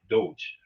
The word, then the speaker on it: Doge: Hey, as they pronounce it, Doge.